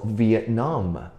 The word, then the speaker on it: Vietnam: 音在后面我们要读 Vietnam, 很奇怪对不对 ?NAM, 我们要读 NAM 的声音 ,NAM 的声音。OK, so Vietnam, Vietnam, OK?